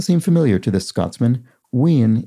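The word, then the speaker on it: wean: familiar to this scotsman ween yes w-e-a-n which comes from we yin and uh indeed win would be the the closer sort of scots scott's english um uh term and i i made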